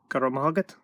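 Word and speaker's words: Go raibh maith agat: Garumahagat.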